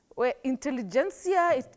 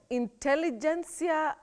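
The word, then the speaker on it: intelligentsia: n TS I a intelligencia intelligencia Willis how do we go about that one in particular well Betty in that word the T is pronounced many people innocently think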